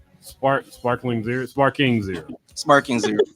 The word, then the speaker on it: Sparking Zero: sparkling zero sparking zero sparking zero not sparkling zero sparking that zero you keep getting the name wrong man you get a